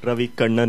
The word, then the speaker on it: Ravi Kannan: Just for the record, Ravi Kannan is the right pronunciation of the name.